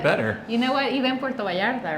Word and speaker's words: Puerto Vallarta: well, I hear Puerto, they take off the O and they switch that for an A, and then Vallarta, they pronounce the L's, so it becomes Puerta Vallarta. Puerto Vallarta.